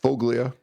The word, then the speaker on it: Foglia: You also have uh the how's it pronounced? Foglia. Foglia.